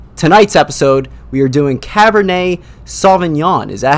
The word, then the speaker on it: Cabernet Sauvignon: to come but tonight's episode we are doing Cabernet Sauvignon is that how you say it yes it